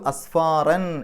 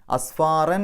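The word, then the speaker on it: أسفارا: എന്നുള്ള ഉച്ചാരണം കൊടുക്കുക യഹ്മിലു അസ്ഫാറൻ എന്നാണ് അവിടെ ഒരു ജീം കാണാം പാരായണം നിർത്താം നിർത്താതെയും ഓതാം രണ്ടിനും ഒരേ പ്രാധാന്യം അവിടെ പാരായണം നിർത്തുകയാണെങ്കിൽ അസ്ഫാറൻ എന്ന് പറഞ്ഞിട്ടല്ല നിർത്തുക അസ്ഫാറാ എന്ന് പറഞ്ഞിട്ടാണ് നിർത്തുക ഫത്തഹ് തൻവീൻ കാണുന്ന സ്ഥലത്ത്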